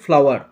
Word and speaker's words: flour: এবং এর উচ্চারণটা হচ্ছে ফ্লাওয়ার। আমরা যে ফুল বলি না, ফ্লাওয়ার, এই উচ্চারণটা ফ্লাওয়ার। আমরা যে ফুল মানে ফ্লাওয়ার, সে ফুলের ইংরাজি কিন্তু ফ্লাওয়ার, আর তার উচ্চারণটা সেম টু সেম, এগুলোকে বলা হয় হোমোনিম বলা হয়, সমচ্চারিত শব্দ।